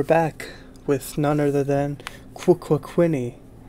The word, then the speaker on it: Quququinny: I'm your host, and we're back with none other than QUQUQUINNY, as she prefers her name to be pronounced. It's a stutter, you see. QUQUQUQUQUINNY. It's like a stutter, QUQUQUINNY.